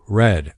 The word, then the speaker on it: read: The verb read. The spelling stays the same, re, but the pronunciation changes. Today I read read a book. Yesterday I read red, a book. It sounds like the color red.